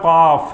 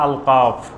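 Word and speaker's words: ق: সূরা ইয়াসিন যদি বলেন যে আল ইয়াসিন সূরা কফ যদি বলে সূরা আল কাফ যেটা আল্লাহ যেভাবে নাম রেখেছেন ঠিক সেই উচ্চারণে সঠিকভাবে বলতে হবে এটা কোরআনের আদব কোরআনের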